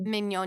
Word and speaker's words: Mignogna: Mignogna. I pronounced that correctly. Mignogna.